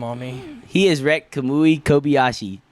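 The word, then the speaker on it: Kamui Kobayashi: your legal team on me he has wrecked kamui kobashi said it right you ow ow I mean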